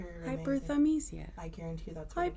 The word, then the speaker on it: hyperthymesia: Hyperthymesia. Hyperthymesia.